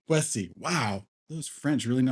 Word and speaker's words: La Boétie: Boétie. Boétie.